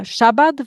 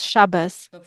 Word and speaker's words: Shabbat: And he also uses a different pronunciation, not the Ashkenazi one, but the Sephardi one in Hebrew. And to give one example, so uh Shabbat versus Shabbos this building was designed